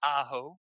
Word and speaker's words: Aaho: They gave me pronunciation before the game. It is Aaho.